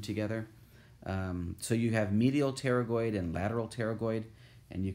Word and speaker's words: pterygoid: are also pterygoid x' the P is silent there the pterygoid muscles attached to part